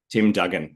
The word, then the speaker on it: Duggan: here let me just actually check that I pronounced your name name properly because I didn't check with you before we started recording Tim Dugen yes you got it exactly correct God okay